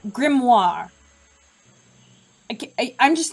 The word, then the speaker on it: Grimoire: today mmm I'm sorry I just realized I say Detective grimore again I said Detective grimore again oh my gosh thank you tiny TK for ruining my pronunciation of grit grimoire okay I'm just not